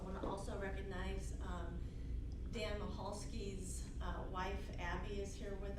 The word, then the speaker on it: Michalski: pronounce his last name there's a c in it and so the c is silent it's michalski and so daniel michalski